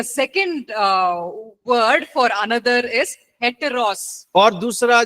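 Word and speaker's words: ἕτερος: आपने स्पेलिंग सुन लिया। And then the second word for another is हेटेरोस।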